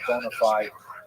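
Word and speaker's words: bona fides: Maybe you've heard bonafide as that's how Americans say it, right?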